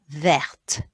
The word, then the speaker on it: verte: A green ear, we'll put an E on the end, and that will make that T sound. So it's oreille verte.